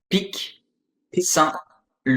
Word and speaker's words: Pic Saint-Loup: Like, how do you pronounce the wine again? What is it called? Pic Saint-Loup.